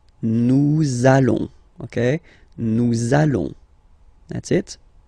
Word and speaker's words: nous allons: it does mean that you will have to pronounce this z sound, okay, listen to me, nous allons, nous allons.